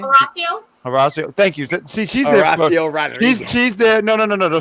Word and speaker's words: Horacio: See, she's Horacio there. Rodriguez. She's there. No. Stop acting like you were saying it right. Stop acting like you were saying it right. Don't pronounce the H. Just say Horacio.